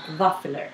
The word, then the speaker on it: Vaffler: One, they're spelled with a V, yes. Not a W. Waffle. Waffler.